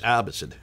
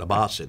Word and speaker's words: Abbasid: it a lot by seeing okay I mean pronounce like you do so it's Abhisit it's not abbas in its Abhisit yeah okay thank you if we